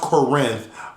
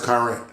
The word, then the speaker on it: Corinth: karen conrad conrad and i but it's actually pronounced corinth but we all but everyone in corinth says current conrad and i um was raised in brooklyn